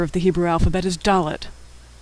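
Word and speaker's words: דלת: the hebrew alphabet is dalit it makes the sound of d as in door in fact the word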